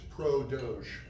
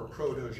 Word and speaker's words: Protege: So anyways, Protege, what Protege is, and so the name of the company is Pro Doge, or Pro Doge, right? It's a play on words. And French pronunciation.